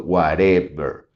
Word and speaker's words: whatever: sería si dijera Whatever si marcamos la de medio es Whatever Y si marcara la primera sería Whatever Entonces si se fijan es obvio cuando nos damos cuenta es más fácil al pronunciar las de las tres o intentar de las tres encontrar cuál es el Stress no y el Stress aquí en este caso vendría siendo Whatever Gods May be se